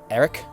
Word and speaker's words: Aric: So Celeste, with my reminder, would you like to tell the others about Eric? It's spelled ARIC.